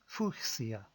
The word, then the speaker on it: fuchsia: The fuchsia flower was discovered and named in 1696 after a German botonist called Leon Hart F who lived in the 1500s. Technically, the flower should be pronounced fia, but we English speakers here in the UK